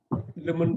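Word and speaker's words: limb: ரெட்ல போட்டுருக்கேன் இது என்னங்க இதுவும் பி சைலெண்ட் லிம் கை கால் கை கால்னு சொல்லுவாங்க இல்லையா கை கால் கை கால் லிம்னா கையும் காலையும் சேர்த்தது லிம் லிம்முன்னு படிக்கணும் கை கால்கள் கைகள் கை கால்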